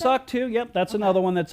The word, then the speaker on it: SOC 2: SOC 2, yep, that's another one that's out there too.